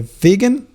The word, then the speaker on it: vegan: Okay, so again, be careful about the pronunciation of the vegan and vegetarian.